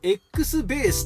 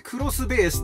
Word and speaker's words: X-BASE: ちなみにこちらのロゴ x ベースと読めるんですがこれでクロスベースと読みますどういうことが